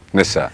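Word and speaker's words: Nysa: Has Nisa, that is your daughter, I think she's pronounced as Nisa only. Nissa.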